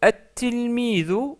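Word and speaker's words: التلميذ: Donc toutes ces lettres se doublent au début, donc c'est pour ça qu'on met une shadda et on ne prononce pas le lem. Par exemple, le mot at-tilmidu, que nous venons de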